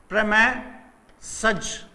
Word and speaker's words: premises: From ए प्रेमेजिस, देखिए ये word जो है इसका प्रोनाउंसिएशन है इसका प्रोनाउंसिएशन है प्रमेसज, प्रमेसज। फोनेटिक ट्रांसक्रिप्शन लिख देता हूं, PREM, फिर ये वाला ए, फिर ये वाला एस, फिर ये वाला ए और फिर जेड, प्रमेसज।